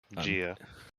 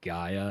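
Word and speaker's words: Jia: Gia. Gia. My brain keeps wanting to say Gaia, and I know that's wrong. And It's spelled with a J, not a G.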